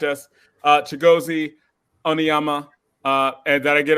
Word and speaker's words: Chigozie: It's really Chigozie. The IE is like an EA.